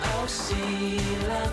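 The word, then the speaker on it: Silla: The kingdoms were this one, pronounced Goguryeo, this one, pronounced Baekje, and this one, pronounced Sheila, you know I want to be the only one.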